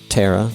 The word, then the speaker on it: Tara: the YouTube I also learned her name is pronounced Tara not Tara which I believe I said at least a